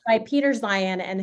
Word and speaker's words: Zeihan: And it's by Peter Zion, and his last name is spelled Zeihan. And he has a podcast